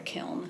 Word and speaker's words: kiln: yep term okay well there's different ways that people pronounce it but i've always learned it was a kiln okay so um they